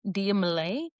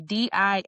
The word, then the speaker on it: Dia Malai: Everywhere at Dia Malay. That is going to be Diamalai, but that's on all platforms except for TikTok.